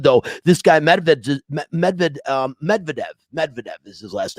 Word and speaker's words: Medvedev: he's really good though this guy made medved medvedev medvedev is his last name um he he